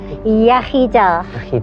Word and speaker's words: Iechyd da: Iechyd da.